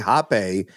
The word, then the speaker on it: Hape: His father is Maori, so you would say Hape is how you pronounce his last name, and he's better known as Iota as a performer.